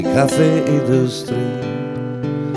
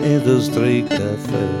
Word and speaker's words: Café Industrie: And if you want to pronounce it correctly, in Vienna we say Cafe Industrie. And to the taxi driver you may also say, please bring me to the Industry Cafe.